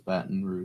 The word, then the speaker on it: Baton Rouge: It's 3 syllables. Baton Rouge.